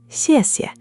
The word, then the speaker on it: xièxie: The first syllable, xiè, is tone four, the falling tone, sharp, like you're giving a firm command. The second, xie, is neutral, light and quick, no tone at all.